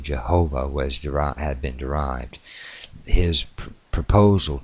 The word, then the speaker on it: Jehovah: This changed in the descendant languages into various stronger consonants, including in English the sound J, or the word of juice, and thus English pronunciations of the older form Jehovah has this J sound.